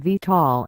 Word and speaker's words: VTOL: This type of VTOL pronounced VTOL technology is seen as fundamental to the creation of an aerial taxi service, as envisioned by Uber and others.